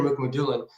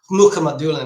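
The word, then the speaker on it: Mukhamadullin: And then I'm also really stoked about Shakir Mukmulan, Muka Madulan actually, is how I'm going to start pronouncing it because I had a buddy who's like, "You're not this isn't even close." So you got to give the the more the more Russian.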